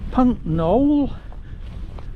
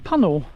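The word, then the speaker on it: Puncknowle: I'm camping tonight, which is a village which is spelt like Puncknole, but of course, as expected, he being a local told me it's actually known as Puncknole.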